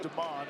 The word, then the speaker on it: Demon: Spelled like demon. It's pronounced Deman.